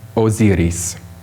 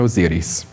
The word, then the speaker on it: Osiris: This is the famous image of the gods, as I pronounce auf Deutsch for you, Isis and Osiris. So listen for that from the priest, Isis and Osiris, tonight.